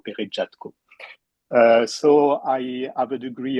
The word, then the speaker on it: Peretjatko: So, my name is Peretjatko, or Peretjatko, as you said, because Peretjatko, it is a French pronunciation, and Peretjatko, it is a Ukrainian one. But I'm French, and the French pronunciation is the official one, so Peretjatko.